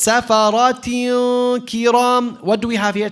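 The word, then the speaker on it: سَفَرَةٍ كِرَامٍ: So here it's safarat kiram. What do we have here? Ta, kasratan. After is a kaf. What tajweed ruling do we have here? Ikhfa. So it's safarat kiram.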